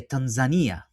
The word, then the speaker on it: Tanzania: one of the first or I should say Tanzania, right? The right way to to pronounce it.